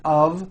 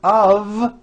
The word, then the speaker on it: of: spelled with an F we pronounce the word of with a voiced v I know this sounds